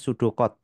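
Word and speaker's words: pseudocode: Kita bisa juga menuliskan namanya dengan ee pseudo ya, tulisannya pseudo ya, bacanya sudocod.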